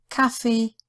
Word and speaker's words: Kaffee: Any other letters? It's just a K sound. Kaffee, Campingplatz, Clown.